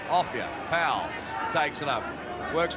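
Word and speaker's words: Offiah: His name is Offia. They call him a fire because it rhymes with chariots and flyer. But we'll call him by his right name, Offia.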